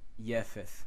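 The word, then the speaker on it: יפת: And then you have Yefeth right here. Okay, this is how you pronounce his name, and this Yafeth is to show emphasis.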